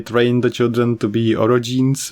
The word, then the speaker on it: orogenes: the children to be orogenes, which is the correct way to say roga, or the even worse way to say that if you read into it.